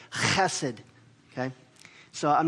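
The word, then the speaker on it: חסד: The word is, in the Hebrew, hesed, which is not really the right way you pronounce it. You really have to almost like clear your throat when you say it. It's like chesed, okay?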